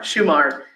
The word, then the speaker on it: Shumard: Of course, the live oak, please correct me, how do we pronounce it? Shumard? Is it Shumard. Shumard.